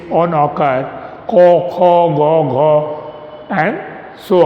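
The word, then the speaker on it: ক: In Hindi we pronounce it as ka, but in Bengali we pronounce it as ko, kho, go, gho, ua,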